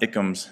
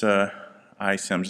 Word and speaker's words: iSIMS: It's not ICOMS, it's iSIMS is the way they pronounce that.